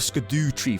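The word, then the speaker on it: Scadutree: a solid amount of sco tree fragments yes that's how you should pronounce that which made him super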